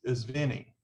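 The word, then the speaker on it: Vine: It was V-I-N-E or V-E-N-E, and it's pronounced is Vinnie.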